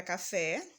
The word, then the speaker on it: café: aqui no nossos exemplos a palavra café o fé já está acentuado então eu sei que ela é a sílaba tônica da palavra a música o